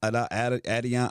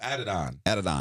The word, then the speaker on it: Adidon: Adion. Oh yeah. He said it this morning. Right. Adidon.